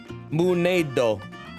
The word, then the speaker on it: Moonnado: Pronounced like the end of tornado. Moonado.